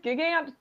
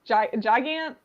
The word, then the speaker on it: Gigant: Gigant, Gigant. I say gigant because she's a giant lady. Yeah, like gigantic.